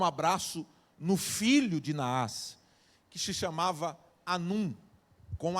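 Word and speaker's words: Hanum: no filho de Nava Anum com H. Tá? Algum, alguns pronunciam o nome de Ranum por conta do H, seja Ranum ou Anum.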